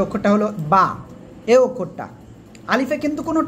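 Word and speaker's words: باء: এরপরে আমরা যে অক্ষরটা শিখবো সে অক্ষরটা হলো বা।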